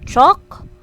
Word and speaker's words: chalk: go very good next in this word chalk we are going to pronounce this letter a as oh so chalk ball small your turn